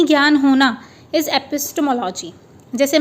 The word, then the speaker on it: epistemology: Epistemology, देखिए इसका pronunciation देखिए आप एक बार, epistemology, EPIS, एपिस, फिर T और फिर MO, और लॉजी तो आपको पता ही है। सो एपिस्टीमोलॉजी, तो इस तरीके से इसका प्रोनाउंसिएशन होगा।